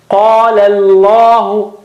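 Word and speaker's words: قَالَ ٱللَّهُ: Qala Allahu. Qala is thin. Qala, and then lam of word Allah is thick again.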